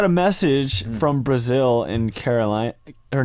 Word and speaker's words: Carolina: Her name is Carolina. Can you just say her name? Caroline?